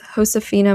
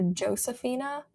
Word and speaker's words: Josefina: I called her Josefina until I was like 13. And I'm ashamed of that because I know full well that the J in Spanish, jota, is pronounced with like a h sound.